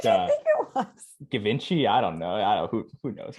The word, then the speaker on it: Givenchy: He says you don't need Givenchy. You need Jesus. Like the lines are there. So that's how you pronounce that. Givenchy, yeah.